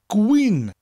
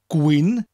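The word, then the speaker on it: gwin: drinkin Queen wine and a great way to remember the word Queen is to imagine you're saying the word green like the color but with cold queen just imagine when you drink in the Gwyn you have a permanent cold I'm drinking Queen do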